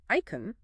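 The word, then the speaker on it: εἰκών: Now this concept comes to us via Latin from the Greek icon. That's e i k o n pronounced icon. Icon sounds like icon.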